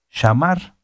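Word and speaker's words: שמר: Guardar se dice shamar. Fíjense, en escuchar se dice shamá, ¿verdad? Ya lo dijimos que es la palabra 8085 de la concordancia Strong. Shamá, shamá. Bueno, guardar en este caso se dice shamar, ¿verdad?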